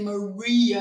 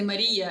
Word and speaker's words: Maria: and she says Barcelona when it's my name I don't say Maria as you say in America I say Maria as you say in Ukraine but that's your name